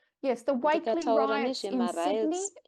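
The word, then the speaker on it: Wakeley: Am I pronouncing that right? Yes, the Wakely ndikataura riots in Sydney nezvemariots earlier this year eWatley in ekusydney April.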